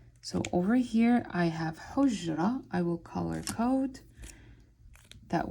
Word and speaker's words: حجرة: I'm blending 2 sounds together. Basically, I'm bringing the h and the j together, and I'm saying حج, حج, حج, حج. And then I'm going ra, ra. So over here, I'm making 2 sounds.